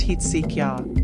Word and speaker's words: Hezekiah: It's supposed to be pronounced Heetsikya, which might parallel Astika in Sanskrit.